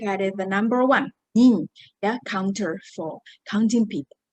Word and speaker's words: 人: Okay, the first pronunciation, it is nin, nin. Okay, you can use it as a counter for counting people, like how many people. All right, the second one is Jin, Jin, nationality.